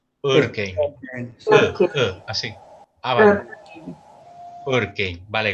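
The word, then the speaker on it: Örkény: si alguien me ayuda, algún húngaro, ¿cómo se pronuncia? Urkény. Urkény.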